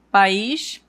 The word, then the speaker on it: país: Então, eh presta atenção que quando eu coloco o acento tônico no is, a pronúncia fica mais forte, né? Eu digo país.